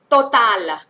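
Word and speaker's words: Total: ซิ ฮ คุณ รั เร็ว มาก เลย บราโว โตตา โตตา นะ คะ อ่าน ว่า โต ตา โตตา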